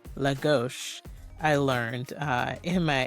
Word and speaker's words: Lagos: Porto to Centra to Logos. Um, actually that's pronounced Lagos.